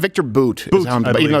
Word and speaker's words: Bout: T-Bone yeah so uh Victor uh is it pronounced Victor boot but even though it's pronounced it's like bout